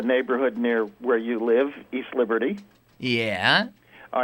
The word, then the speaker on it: East Liberty: are are inverted uh East Liberty is pronounced by those who don't know as if there were other Liberties there's no South Liberty it's just East Liberty with the accent on the East right yeah East but